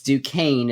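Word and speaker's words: Duquesne: the 11th seed is Duane by the way du qu s NE e it's duain is how you say that University's name I have learned recently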